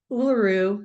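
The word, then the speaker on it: Uluru: called Ura aers A's Rock in Australia and uaru I just pronounced it correctly is a massive Sandstone Rock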